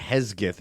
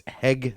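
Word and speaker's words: Hegseth: How do you pronounce I'm saying Hezgith. It's Hegath. Hegith. Yeah. Yeah. That's correct. I didn't know. I didn't know. I was putting the S before the G.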